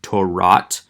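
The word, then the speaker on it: תּוֹרַת: You can see the other vowel changes that take place accordingly in the word Torah, in Torat, where again the komets has reduced to a patak.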